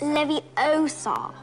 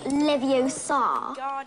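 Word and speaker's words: Leviosa: good man for you you're saying it wrong it's Levy Oar not Lev Oar you do it then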